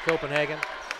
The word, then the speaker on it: Copenhagen: So here, technically, it would be pronounced Copenhagen.